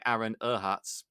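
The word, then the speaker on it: Aaron Ehasz: had those guys and that uh other guy aaron erhatz i remember that's how you say his name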